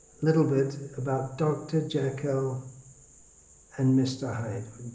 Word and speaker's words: Jekyll: Jekyll and Mr. Hyde, or Jekyll if you want to pronounce it, more like the Scottish.